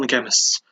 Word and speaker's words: Qemists: so I settled on The Chemists. It's spelled Qemists, just so you know.